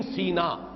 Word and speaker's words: سینا: کہا گیا ہے۔ سینین سینا، قرآن مجید میں سورہ مومنون میں یہ لفظ آیا ہے طور سینا، سینا اور سینا دونوں اس کے تلفظ ہیں۔ سینائی پیننسولا، آج کل